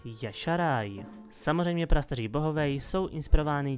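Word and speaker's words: Y'Shaarj: nakonec ten úplně nejtěžší, který by se měl vyslovovat Yasharai.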